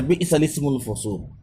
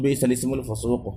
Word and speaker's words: بئس الاسم الفسوق: جس کا تلفظ ہے بئس الاسم الفسوق، جو سورہ حجرات میں ہے، اس میں بئس کے بعد لام مکسور، اس کے بعد سین ساکن ہے، اور لام سے پہلے